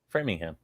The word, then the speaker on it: Framingham: a brewing and framing how do you guys say it because everybody in massachusetts means framing framingham framingham okay just like it's spelled that's a first for